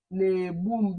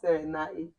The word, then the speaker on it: na-egbu m: This NA, what you're going to do is na-egbu m. This is how you pronounce it. Eh? Same thing. Eh? Na-egbu m. This is what you say, not na.